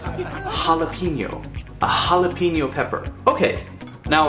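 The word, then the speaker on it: jalapeño: now this looks like when you read it jalapeno and it's actually pronounced jalapeno a jalapeno pepper okay now of course we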